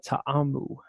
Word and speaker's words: Ta'amu: Josh Gordon, he's out for 4 weeks for the Bengals, as well as their quarterback, Jordan Ta'amu. That's how you pronounce that, by the way, the Hawaiian name.